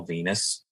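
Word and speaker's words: Venis: they they gave him the name Venus because it rhymes with penis yep yeah I could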